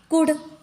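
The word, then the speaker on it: could: डी का देखते हैं कुड डी के पहले एल आया है साइलेंट कुड वुड डी के पहले एल आया यहां पे हो गया साइलेंट शुड यहां पर शुड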